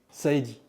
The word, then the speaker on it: Saeidi: Delrue je suis journaliste pour infoscope euh Saidi je prononce bien Saidi Saidi Saidi Saidi donc bonjour on peut se